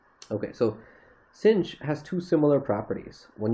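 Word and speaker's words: sinh: sine hyperbolic sine and this is sometimes pronounced pronounced cinch so the way the way the word cinch is written is you actually like c i n c h so this is pronounced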